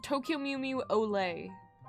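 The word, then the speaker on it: Olé: It's called Tokyo Mew Mew Olay. Like O-L-E with the accent.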